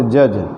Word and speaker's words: judge: इसी प्रकार से जज, JUDGE, यहाँ भी डी के बाद GE है शब्द के अंत में इसलिए डी का उच्चारण नहीं होता, जज, न्यायाधीश।